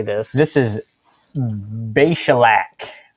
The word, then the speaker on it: Beshalach: This is Beshalach. Beshalach.